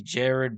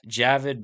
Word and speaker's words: Javid: Ricky Simone versus Jared Basharat. Javid Basharat.